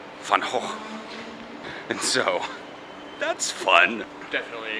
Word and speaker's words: Gogh: Because in Dutch, the G is not a G. And since it's OG, it doesn't follow the NG rules of a silent G. So it's hoch. Van Gogh.